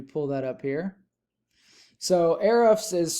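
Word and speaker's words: Ahrefs: used a tool that i have that's called arifs let me pull that up here so erifs is spelled a-h-r-e-f-s i pay a few hundred dollars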